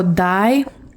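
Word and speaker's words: dai: So, dye, the way you pronounce this is literally just like dyes that you use on like clothing and whatnot.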